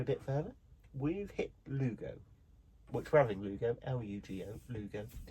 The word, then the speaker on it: Lugo: L-U-G-O. Lugo. Not pronounced anything like that whatsoever, but we're having Lugo. Not Ludo.